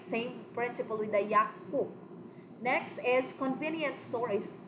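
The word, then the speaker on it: 약국: Now remember, kanisha class, the batchim here is Giyuk, and then the next syllable is also Giyuk, right? The same initial principle with the Hakyo. Hakyo here, it becomes, you know, Hakyo, it means school. Ang pagpronounce na niya class, it becomes double Sanggyeok, okay, or double Gyeok. So that's why we are going to say Yakpuk, okay, Yakpuk.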